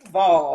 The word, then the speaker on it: Duval: Duval, that's how you say it.